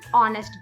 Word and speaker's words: honest: Although it's ऑनेस्ट and starting with H, बट जब हम उसे प्रोनाउंस करते हैं तो हम ऑनेस्ट बोलते हैं।